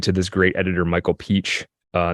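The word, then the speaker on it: Pietsch: this great editor Michael Peach uh not spelled Peach but that's how it's pronounced um cutting cutting cutting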